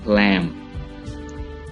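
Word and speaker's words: lamb: लैम, लैम भेड़ का बच्चा, लैम, बी साइलेंट है।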